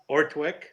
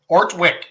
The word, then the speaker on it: Ortwick: how do you say your last? I know Ron's been saying it, but I want to practice. Ortwick. Ortwick, just like that.